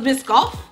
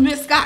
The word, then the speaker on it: Biscoff: to pronounce it though oh it's biscoff yeah oh i thought it was miss scott i don't know how